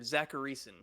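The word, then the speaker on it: Zachariason: Zacharyson is how you say it. Zacharyson.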